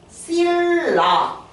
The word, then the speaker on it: 신라: 더 있어 자 그러면 실라 같은 경우는 발음하면 어떻게 돼요 신라 신라의 천년에 신라 천년 어렵죠 실라 그러면 뒤에 있는 리을 때문에 앞에 있는 니은이 어떻게 됐어요 바뀌었죠 뒤에 있는 리을 때문에 앞에 있는 니은이 바뀌었어요 거꾸로 올라갔어요 그래서 이걸